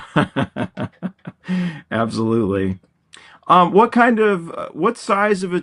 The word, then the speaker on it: Louisville: If you're not from Kentucky, people say Louisville, but it's Louisville. Louisville.